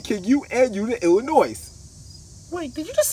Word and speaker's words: Illinois: So it's Illinois. Hey, y'all ready to get the picture? But the S is silent.